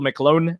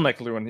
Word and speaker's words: McLuhan: They read too much fucking Michael McClone and is that how you pronounce his fucking last name? Anyway. I have no idea. I have no idea. Marshall McLuhan.